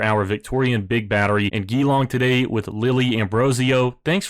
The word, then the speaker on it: Geelong: I think it's Geelong. I actually looked it up since I mispronounced it the first time, but as it states,